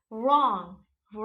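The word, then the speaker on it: wrong: want begins with वर अगर कोई word वर से शुरू हो रहा है यानी की वो वर्ड में डब्लू ओबवियसली साइलेंट ही होगा एग्जांपल रोंग रैप राइट एक्जेक्ट्रा यानी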